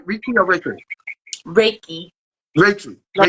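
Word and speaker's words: Reiki: Ricky or ra raiki raiki like a ray of sunshine and then key the key put in the door key I read that I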